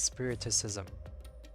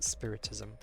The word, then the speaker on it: spiritism: For some reason I want to pronounce that as spiriticism, but no, it's spiritism.